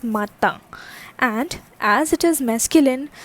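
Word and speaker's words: matin: after me lo okay this is not martin this is mata and as it is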